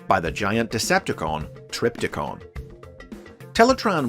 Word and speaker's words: Teletraan: within the volcano infamously the computer's name was frequently mispronounced as teletron during this series an error that was